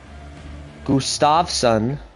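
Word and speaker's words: Gustavsson: that's how I would think it was it's pronounced gustavson that makes sense okay it's on it's sunfist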